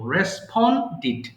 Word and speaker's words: responded: Okay, again I'm reminding you, মনে করিয়ে দিচ্ছি, if we get ded at the end of your English word, the pronunciation should be did. তার মানে যদি আপনার শব্দ শেষে ডিডি থাকে তাহলে আমরা ডিড উচ্চারণ করব, responded.